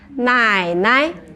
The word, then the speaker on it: 奶奶: Okay, and father's mother, in Chinese we say 奶奶. 奶奶奶奶. 奶奶 Yes, so when you pronounce the Chinese word, do remember it has a tone.